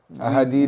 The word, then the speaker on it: ahadith: But basically what I'm trying to say is that a hadith is a multi-source. Yeah, like they're very, That's how you pronounce it, right?